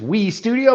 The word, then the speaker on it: W3 Studio: to start W3 yes so we call it Wei just we Studio but we use the W3 cuz we're involved in that web 3 world so we we try to be hip James say it like the kids would wi Studio but uh